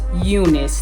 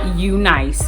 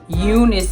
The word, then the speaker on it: UNice: The hair company is UNice, not UNice. I'm so sorry, but UNice is the correct way to pronounce it.